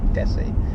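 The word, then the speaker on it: Dessie: And we slept at a place called Desi, which is spelled the same as Jesse but with a D, Desi.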